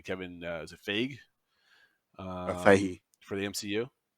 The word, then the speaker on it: Feige: And I always pronounce his last name correctly. Kevin, is it Feige? Feige. For the MCU, Yep. right? Kevin Feige.